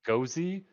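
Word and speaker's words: Gose: something I think it's pronounced it's pronounced gozie it's a it's a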